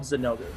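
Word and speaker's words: Zinogre: monster is zanoger and i know some people want to pronounce it differently but his name is he's called zanogu and he is the most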